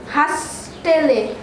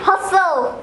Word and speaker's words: hustle: Hastele. It'll be hustle.